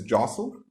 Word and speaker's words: jostle: word we have is jostle okay we don't pronounce the T in jostle the second word is